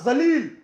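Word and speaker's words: ज़लील: आपने पहले सही उच्चारण किया था जलील, उसका नाम जलील ही होना चाहिए, लेकिन फिर आपने जलील कह दिया। जलील यानी खूबसूरत होता है और जलील यानी गिरा हुआ होता है।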